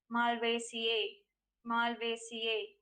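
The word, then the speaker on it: Malvaceae: right pronunciation of the given word would be malware c a the right pronunciation of the given word displayed on the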